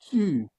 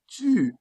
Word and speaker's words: tu: You need to tie the O with your lips rounded to pronounce it properly. U. Like in the word tu. Like in the word tu. Tu. Round your lips.